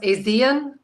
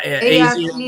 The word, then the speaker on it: ASEAN: Well, what about, so there's this other Asian association, is it pronounced ASEAN? Yeah, ASEAN.